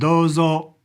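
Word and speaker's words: どうぞ: It's got a long O sound. Dozo.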